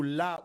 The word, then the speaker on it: Ra: En égyptien, on dira Ra, mais ceci est prononcé plutôt La ou Loi, d'accord ?